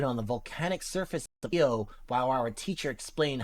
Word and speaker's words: Io: Io, pronounce I-O.